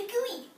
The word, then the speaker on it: GUI: remember what the um how the pronunciation for the GUI what it's how it sounds the whatever it's called the gooy good job thanks thanks